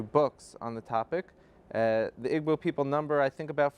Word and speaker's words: Igbo: He's studying at the Florida International University, but he comes from Nigeria, from the Igbo tribe, otherwise pronounced Igbo.